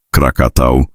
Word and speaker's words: Krakatau: Nama Krakatauo dipercaya berasal dari bahasa Sansekerta Karkata yang berarti kepiting atau lobster. Sementara istilah Krakatoa populer akibat kesalahan pelafalan persat ketika melaporkan letusan lepambas nana tampul 3.